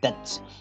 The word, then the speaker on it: debt: 국가의 이런 뜻이고, debt 조심하세요. 비 발음 안 합니다.